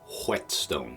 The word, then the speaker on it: whetstone: here is a whetstone it's spelled a little funny whetstone right it's got that H in there but you do actually